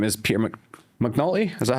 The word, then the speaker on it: McNulty: And the person's name is Peter Mcnulty. Is that how you pronounce it?